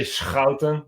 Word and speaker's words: Schouten: You have SCH and the CH, that's the hard G.